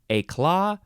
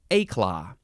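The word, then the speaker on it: éclat: is a claw yeah you can emphasize either syllable a claw or a claw e c l a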